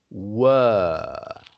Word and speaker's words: were: Now the British accent is were. Were. And that's because, you see, we already have another word which is pronounced where.